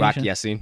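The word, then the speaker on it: Ya-Sin: nelson carrie willis and rock yacine was that the pronunciation rocky scene yes so that's it hey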